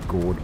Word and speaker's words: gourd: That might be cool to have some homemade gourd bottles. Bird houses. Yeah, that's a good one. It rhymes with board.